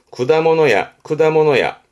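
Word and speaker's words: 果物屋: 발음은 쿠다모노야.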